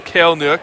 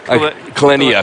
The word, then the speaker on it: Kaleniuk: Who I want to pronounce as Kaleniuk, but I think it's Kaleniuk. Kaleniuk, yeah. That's what we say, and we're always right.